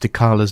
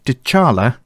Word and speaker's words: Dechala: Just a quick note, we mispronounced Dala's name throughout the rest of our interview. So instead of Dala, please imagine we are saying Dal.